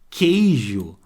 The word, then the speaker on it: queijo: neste caso da palavra queijo ó queijo tá vendo esse qo junto é aquilo que nós estávamos indo lá no outro slide ele tem som de k queijo eu não escuto o som do quando eu tenho